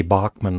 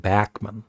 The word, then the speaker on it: Bachman: And as you can hear, Randy Bachman was, it's actually Bachman. I heard Burden Cummings say his name, and he said Bachman. I always used to say Bachman.